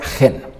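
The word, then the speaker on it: חן: acabamos de hacer aquí primero es la j y luego es la n se pronuncia genen y Qué significa gracia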